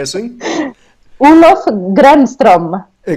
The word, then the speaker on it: Gränström: Olof E agora espero não me enganar a pronunciar o nome. Olof Granström, é assim? Olof Granström. A Grandstrom, exatamente.